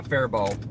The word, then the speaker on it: Faribault: Yeah, Fairbault is the way we say it.